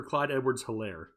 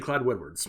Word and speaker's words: Clyde Edwards-Hilaire: It sounded like you said Clyde Edwards. Clyde Edwards-Hilaire.